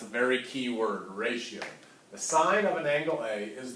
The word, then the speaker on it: sine: SI in you know please don't say sin I might pick on you a little bit all right it is the sine of angle a alright it is spelled